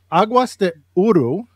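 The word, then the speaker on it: Águas de Ouro: your newest book, and I'm going to pronounce it in my best way. Aguas de Ouro, if that's close. Exactly. Perfect.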